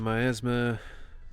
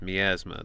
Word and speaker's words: miasma: What's more, when she was affected by the myasma. No, it's miasma. They're saying it wrong.